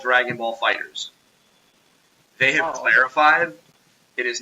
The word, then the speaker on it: Dragon Ball FighterZ: It is called Dragon Ball FighterZ. They have clarified it is not Dragon Ball FighterZ.